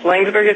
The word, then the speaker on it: Laingsburg: Marsha Brandon, an optometrist from Laingsburg, Michigan. Did I pronounce that right, Dr. Brandon? Yes, Laingsburg is correct.